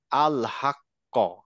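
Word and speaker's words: الحق: যেমন ইয়াব আত কিন্তু লাস্টে হলে কি প্রোনাউন্সিয়েশন হবে ওই সেম ভাবে হবে একটু সেম ভাবে হবে একটু বেশি থামতে হবে যেমন ধরেন আমি আক্ক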